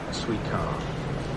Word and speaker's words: Suica: I'm not one, but Suica stands for Super Urban Intelligent Card, and the pronunciation is also a pun on the Japanese word for watermelon, suika.